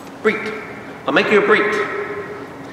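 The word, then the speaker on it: ברית: Even though it's spelled B-E-R-I-T-H and we think it's two syllables, in Hebrew it's only one. Brit.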